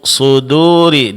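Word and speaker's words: صدور: Kemudian terakhir pada kata fi suduri suduri di sini huruf dal itu dipertahankan tipisnya. Jangan terpengaruh oleh tebalnya huruf shad.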